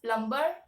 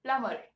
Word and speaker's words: plumber: you call them as plumber because there's a b in that word you tend to pronounce uh the B but actually that b is silent the correct pronunciation of this word should be plumber plumber all right let's